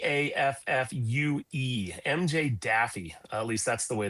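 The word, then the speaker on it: Daffue: with how do you spell how do you pronounce D A FFue? MJ Daffy.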